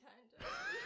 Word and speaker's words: Tyne: It's Tyne. Tyne? Oh. Did you just say because she's small?